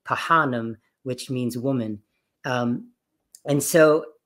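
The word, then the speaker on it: phanem: So when you see a PH, it's never an F sound. You actually have to pronounce both, like Pahanam, which means woman.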